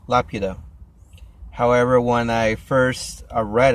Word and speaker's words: Laputa: It's la pew. So laputa. And yeah, when I saw it, the original version, when the original title was mentioned or shown, I thought la puta, like, holy crap, what would you call the bitch? You know, is it named the bitch or the whore in the island or whatever?